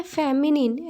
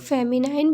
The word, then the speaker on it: feminine: Again इसे कुछ लोग फेमिनाइन भी कहते हैं. फेमिनाइन इसलिए क्योंकि लास्ट में NINE जो स्पेलिंग होती है वो लिखी गई है, बट फेमिनिन भी बोलते हैं, तो आप कंफ्यूज मत होइएगा, राइट?